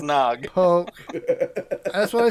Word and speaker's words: Gnog: Gnog, I think is how you say the name, or Nog, is a 3D puzzle game set in a tactile world of toys and secrets. Point, Pretty click, Pretty sure grab, it's Nog.